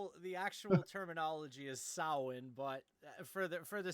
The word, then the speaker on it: Samhain: a Halloween fan you would know how to pronounce Sam Hayne actual terminology is sowin but for the for the sake of the